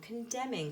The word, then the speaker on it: condemning: I'm going to skip that one, and then come down to this one, condemning. Because when we say it, when we pronounce it, we tend not to pronounce the N.